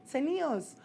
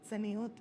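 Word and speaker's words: צניעות: Tzenius. Oh, that's a word? Yes, it's pronounced tzeniut.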